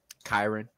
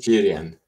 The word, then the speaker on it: Kyron: Kyron. Yeah, in Sweden it's Kyrian. Yeah, that's exactly what I get all the time. Kyrian, Kyrene, things like that.